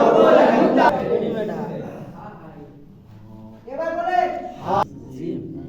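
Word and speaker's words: جيم: এই অক্ষরটা উচ্চারণ হবে জিহ্বার মধ্যখান, তারপর উপরে তালুর সাথে লাগায়া, ঠিক আছে? জিহ্বার মধ্যখান, তারপর উপরে তালুর সাথে লাগায়া শব্দভাবে জিম জিম জিম জিম জিম জিম।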